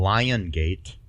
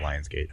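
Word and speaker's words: Lionsgate: filmed in Marvel and lion gate films not Lion's gate I'm just I'm just saying how they say it um need to brace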